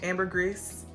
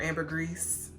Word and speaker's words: ambergris: almond it has saffron it has ambergris or amber grease i still don't know how to properly say that i looked it up and i saw it pronounced both ways you guys let me